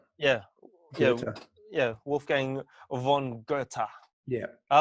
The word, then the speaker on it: Goethe: was like yeah because most people see goethe and from their pronunciation and call it ghost and that's right but if you're gonna quote a guy get his name right so yeah yeah that's